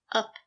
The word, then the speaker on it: up: Use the schwa sound. Up. It's a relaxed sound. It's a lazy sound. Up. The position of the voice is low. Up. It's up to you. The stress is on up.